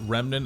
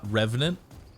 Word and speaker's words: Remnant: Doc, I would like to remind you that Remnant is spelled R-E-M, not R-E-V. It's not Revenant. Remnant. Try that one out.